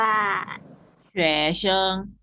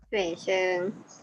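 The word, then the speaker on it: 学生: ว่า นับ เรียน ออก เสียง ว่า ไง คะ ว่า เฉว เชิง เฉว เชิง อาฮะ ห่อ ชื่อ เฉว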